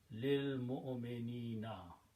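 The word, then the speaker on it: لِلْمُؤْمِنِينَ: Okay, and so when you read together, you don't pronounce this alif, it becomes lil.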